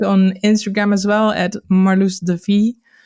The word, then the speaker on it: Marloes de Vries: Help me For with an my Dutch pronunciation. Let's try it one more time. Marloes de Vries? Marloes de Vries.